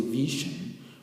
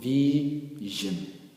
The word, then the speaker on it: vision: Words that end with S-I-O-N are pronounced as zhen and not shon. For instance, we can say for examples that the word vision, we will not say vision, we will call it vision. Vision.